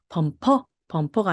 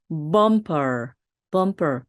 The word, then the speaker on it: bumper: 이것도 범퍼가 아니라 bumper 리듬을 타주시면 되겠습니다.